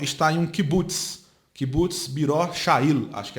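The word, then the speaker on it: Beror Hayil: Kibbutz Biror Sha'il, acho que é assim que pronuncia. Eu não estudo hebraico, sou árabe. Estudo árabe, né? Acho que pronuncia Biror Sha'il, B-R-O-R-C-H-A-I-L.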